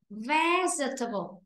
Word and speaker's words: vegetable: Vì vậy ta không đọc là forgettable. Từ đọc đúng này. Vegetable.